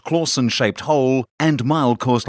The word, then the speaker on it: Clausen: travel terrible Batman impersonations at Charlie claussen pronounced Clausen shaped hole and mild